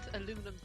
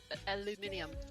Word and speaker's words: aluminium: you need to invent aluminum aluminium aluminium yes you know the reason why the british pronounce it that way that's how it was spelt initially that makes too much